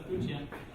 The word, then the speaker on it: Bucchia: Dina del Bucchia, who I used to mispronounce her name all the time too, that's Bucchia.